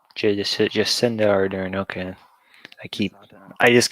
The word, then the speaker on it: Jacinda Ardern: How do you pronounce her name? Jacinda Ardern. Jacinda Ardern.